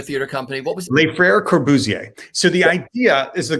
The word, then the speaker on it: Les Frères Corbusier: How do you pronounce the name of your theater company? What was it? Les Frères Corbusier.